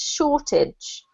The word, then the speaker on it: shortage: It's a bit strange because it does look like you've got the word age on the end here, but for some reason we pronounce it idge, so it's like a shortage.